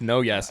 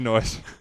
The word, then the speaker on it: Noise: Is that how you say his name? I just Yeah. think it's no yes. Yeah, I thought it was No Yes. It's definitely Noise.